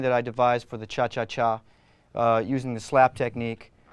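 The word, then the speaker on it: cha-cha-chá: the Chacha group actually actually the correct pronunciation is cha cha cha with three that's right is most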